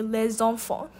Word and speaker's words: les enfants: An example would be les enfants, where you would pronounce the S because an E begins the next word.